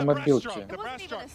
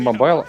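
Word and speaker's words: mobile: Кстати, по поводу еще вот фова на мобилке. Да, кстати, я не знал, что они говорят не мобайл, а как это? Мобил. Мобил. Да. Не знал, что это так произносится.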